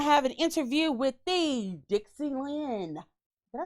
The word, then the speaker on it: Dick Z. Lenn: When we get back, we're going to have an interview with the Dixie Lenn.